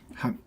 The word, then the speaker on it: 汗: And then this character has another pronunciation. Han. Han means only used in one context, which is 可汗.